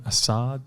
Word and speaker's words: Assaad: Hey guys, Dominic Neshi here with the great Assaad. Did I pronounce that correctly?